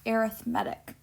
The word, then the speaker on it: arithmetic: And notice that it's spelled just like the word arithmetic, but it's pronounced arithmetic.